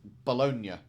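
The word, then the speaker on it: bologna: was going to call I was going to pronounce that how it's supposed to be pronounced bolognia but I know you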